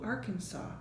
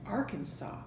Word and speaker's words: Arkansas: imaginary Isle of New Arkansas. Sometimes when an S is at the end of the word, like in debris and Arkansas, we don't pronounce that S.